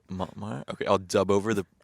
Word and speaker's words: Montmartre: It was, I don't remember the name of it, but it was near like Montmartre, like that hill.